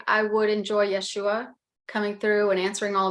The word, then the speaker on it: Yeshua: We like to accent the U, Yeshua.